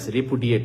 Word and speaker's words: repudiate: রেপুডিয়েটটা idiot থেকে মনে রেখো রেপুডিয়েটের মধ্যে ইডিয়েট রেপুডিয়েট তাহলে উচ্চারণটা এরকম রেপুডিয়েট লাস্টের অংশটা ইডিয়েট তাহলে ইডিয়েটদেরকে